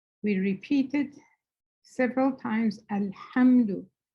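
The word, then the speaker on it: الحمد: So alhamdu, when we hear it, we repeat it several times. Alhamdu. Make sure you're pronouncing the ha correctly. It's not a ha.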